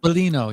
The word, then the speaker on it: Biglino: How do you pronounce his Mauro last name? Bellino, yeah. Bellino, yes. I'm glad you brought him up, because I was going to anyway.